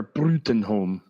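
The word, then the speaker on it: Bruttenholm: cannot remember his name cuz it's tough to pronounce Bruton home professor bring home forever Bruton home yes and so you can go to routes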